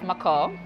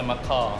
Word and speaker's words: Macau: Most of us just know what it as language Macau. is that? English. It's Macau. But a lot of people say Macaw.